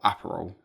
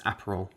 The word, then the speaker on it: Aperol: Is it apparel or Aperol spritz?